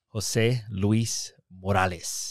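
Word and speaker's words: José Luiz Morales: Jose Luiz Morales.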